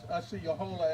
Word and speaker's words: Osceola: Osceola, or Osceola, as we say it back in Oklahoma. Osceola, some may say. They have different pronunciations for it, but we know it's for that.